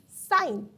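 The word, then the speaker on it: sign: Scissors के अंदर आप देख सकते हैं कि सी हमारे पास साइलेंट है. फिर उसी तरह हमारे पास जो नेक्स्ट आता है जी, साइन.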